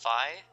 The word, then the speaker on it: Phi: Because Phi, she has a Greek name on purpose, and that's how they pronounce.